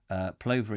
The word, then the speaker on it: plover: tubers so very interested plover is pronounced as in glove Oh as in glove glove love-love plover clover is that we were saying it's like plover the plover happy st.